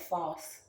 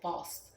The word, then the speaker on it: Faust: term comes from the Legend of false which almost sounds like false but it's f-a-u-s-t so I think it's how you say it false who traded his soul